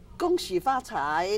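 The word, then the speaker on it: 恭喜发财: Gong Xi Fa Cai, Nathan.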